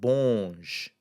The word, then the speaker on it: bons: would become BONS, and that would still have the same sound, bonge.